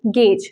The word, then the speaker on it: gauge: it is coupons now Gorge ous the right pronunciation it is not Gorge it is gauge so when I am trying to gauge the